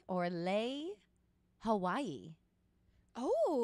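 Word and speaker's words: Laie: so i'm going to lay or lay hawaii oh it's on it's on honolulu island lay like the one you wear l-a-i-e probably i think you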